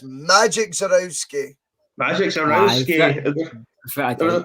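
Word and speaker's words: Żurawski: It's Zarowski. Bored with this Not pronunciation, like Zarowski.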